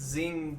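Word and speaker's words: Xing: Zing tea, spelled with an X, and there's a green tea mint that's very good, which you can't find anywhere.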